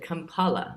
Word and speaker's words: Kampala: So you said Kampala. That's how you pronounce the capital city, right?